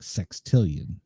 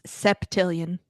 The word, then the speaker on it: septillion: Sextillion. No, it's septillion. Is it? Okay, so I was septillion. Oh no, okay. You said it wrong the first time. Said it right the second time when you read the article.